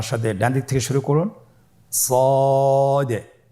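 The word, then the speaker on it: صاد: শুরুতে আমরা শুরু করছি সদ। সদ হরফটি পর হরফ। মোটা হরফ উচ্চারণ ক্ষেত্রে মোটা করে পড়তে হবে এবং উচ্চারণ করার সময় তিন আলিফ টেনে পড়তে হবে।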